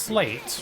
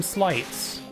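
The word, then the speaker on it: Sleights: the word and realized the word is pronounced slates, right? Because it's like sleigh, like Santa's sleigh. It's spelt the same. But I used to call them slights.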